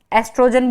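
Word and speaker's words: oestrogen: और female sex hormone ओएस्ट्रोजेन एस्ट्रोजन बोलते हैं वैसे तो साइलेंट होता है तो और प्रोजेस्ट्रोन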